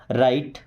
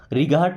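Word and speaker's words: right: टी के पहले कभी भी अगर जी एच है तो साइलेंट ही रहता है। ओके? राइट। राइट का मतलब सही। रिगाहट नहीं पढ़ेंगे।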